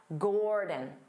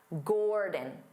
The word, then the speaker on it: Gordon: His name is Dada, Gordon, Dada, Gordon, Gordon. Because the first syllable is stressed, gore, so the second syllable becomes that unstressed vowel sound, din, din, Gordon, Dada.